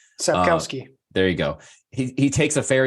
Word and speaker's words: Sapkowski: author, and I'm not going to try to pronounce his name. Sapkowski.